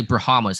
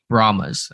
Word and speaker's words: Brahmas: say promise promise yeah I always want to say brahamas and put an extra a in there but I guess it's just brahmas so they beat the